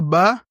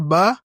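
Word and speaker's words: باء: Le dernier point qu'il faut savoir, c'est que la lettre Ba, cette lettre-là, je vous ai dit lorsqu'il y a le chapeau, on tire légèrement. La lettre Ba, cette lettre-là, est la deuxième lettre de l'alphabet arabe.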